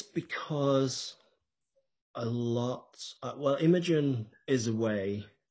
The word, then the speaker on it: Imogen: And we haven't talked about Imogen, if that's how am I pronouncing it right?